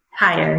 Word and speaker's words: Hyer: Hyer, yep. Okay. Hey, that's new. I like it. It's spelled a Thanks.